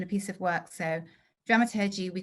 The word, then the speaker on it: dramaturgy: i should say something about dramaturgy dramaturt but i don't say it like that dramaturgy is a number of